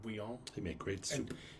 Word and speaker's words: Bouillon: There was this guy named Godfrey of, I think it's pronounced Bouillon, but it looks like Bouillon, but it's actually, it's like Bouillon.